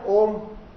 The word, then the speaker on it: Om: So we have in Om, A, U and Ma. So three syllables are there. A, U, Ma. A, U, Ma. Okay. So when we join this, A and U is joined as O. O. And the Ma is there, then Om comes.